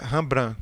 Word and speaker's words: Rembrandt: Se escreve dessa maneira, mas a pronúncia é Rembrandt, com o T mudo.